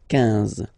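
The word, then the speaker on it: quinze: Same thing here, U doesn't exist, so 15, 15, 15, all right?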